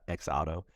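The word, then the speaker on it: XOTO: wondering how you actually pronounced the name, and, it's spelled X-O-T-O. And Julia actually got it right. She said X Auto. And they just confirmed it in the comments. So we appreciate that. X Auto, you also have a ticket for you for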